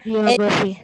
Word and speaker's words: geography: And of course, here the first syllable is stressed because the word ends with Y. And of course, for the words ending with Y, the stress should be given on the third last syllable.